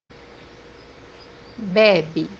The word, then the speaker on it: bebe: The second pronunciation is A, which is a light A. The example that we have here is the word to drink, which is bebe, bebe. So we don't say baby, we say baby, a light A.